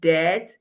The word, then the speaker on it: debt: So, we have the word debt, doubt, and subtle. They take the BT form. The BT form. And when the B comes before the T, the B is silent.